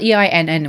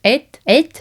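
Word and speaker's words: einn: It's spelled E-I-N-N, which I would Germanically go ein, but apparently it's et. Something to do with the double N in Icelandic is a th sound.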